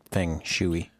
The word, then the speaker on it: feng shui: and New Age stuff pronounced like it's pronounced thing Chui okay and saying you